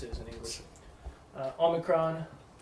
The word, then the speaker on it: omicron: Omicron, ah, Oh, as in not. Sounds almost exactly like alpha, ah, ah. Slight differences. Ah. But, yeah. Pronounce them the same way, it'll be fine. Not O.